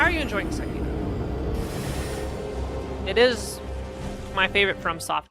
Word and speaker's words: Sekiro: Playing Sekiro, which is pronounced Sekiro.